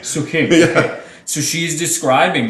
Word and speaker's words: Suk Hing: It's Suk Hing. Suk Hing.